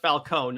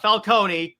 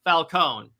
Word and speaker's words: Falcone: Washington and then Carmine Falcone so yes it's pronounced Falone not Falcone Falone and then they stab this dude's eyes out